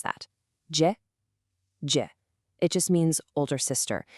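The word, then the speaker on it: 姐: always a really thoughtful compliment to call her Jie. Let's pronounce that. Jie.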